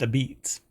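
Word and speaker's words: apizza: a beats it's pronounced a beats apparently yeah Ab Beats um I guess that's a nod it says a nod to the dialect of early Italian immigrants who settled the city but I offer up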